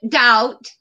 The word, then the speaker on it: doubt: The B is silent, doubt.